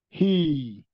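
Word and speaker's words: hii: Then the letter I, if the I follow each other, we'll still repeat it. He. So the H is he. So we'll say he. Probably in our pronunciation, we might even ignore the word H. We just pronounce the letter, double letter I. So we call it he.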